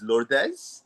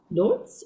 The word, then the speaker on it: Lourdes: The Spanish way is Lordes. Lordes way is lord. Lords. Okay. English is lords with an s.